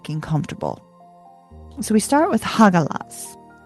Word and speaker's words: Hagalaz: So, we start with Hagalaz. H A G A L A Z Hagalaz.